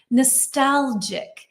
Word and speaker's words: nostalgic: Number six is which of these things might make someone feel nostalgic. And the G and this is a J sound, right? Nostalgic.